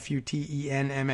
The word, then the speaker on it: Futenma: cases are at the Futenma Futenma under how you pronounce it fut en ma Futenma Marine Air Station another